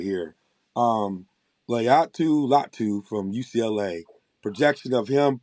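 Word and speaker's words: Laiatu Latu: Layatu Latu from UCLA.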